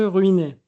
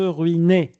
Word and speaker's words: ruiner: conseil pour bien manger sans ruiner ça se prononce e non bien manger sans se ruiner pas ruin ni mangèr non manger sans se ruiner